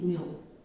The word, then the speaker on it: mu: It is said to be mu. You pronounce it as mu.